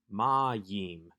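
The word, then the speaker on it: מַיִם: is yod heric mem we have the accent on the penultimate syllable the second to last syllable ma ma yim which tells us that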